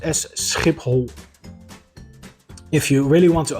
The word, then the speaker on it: Schiphol: simulate the sound so the second part of the word is pronounced whole so the whole word is pronounced as SCP hole if you really want